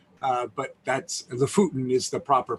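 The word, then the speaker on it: Lofoten: know right i think most americans call it loaferton uh but that's the futin is the proper pronunciation and boy is this when however you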